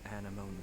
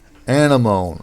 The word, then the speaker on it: anemone: Of Anemone Valley? Anemone. Okay. That's how it's pronounced. Whenever I've seen it, I've always thought it's pronounced anemone, but anemone. Okay. At least in the context of the game here, it's anemone.